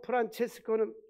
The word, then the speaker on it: 프란체스코: 성 프란시스는 영어 발음이고 성 프란체스코는 이태리 발음입니다.